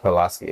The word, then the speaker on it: Pulaski: I was talking to Ben BPAC, Ben Pulaski. I think that's how you pronounce his last name. Pulaski. Yeah. Pulaski, right? Pulaski, right? Yeah.